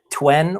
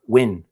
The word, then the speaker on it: Nguyen: Well, you pronounce it Twen or Win. Just Twen or Win. Okay. Win is the last name. I know. I worked in the casino industry. I was younger, and I had a lot of people from Vietnam, and that's how you pronounce that one. Win. It sounds just like Win.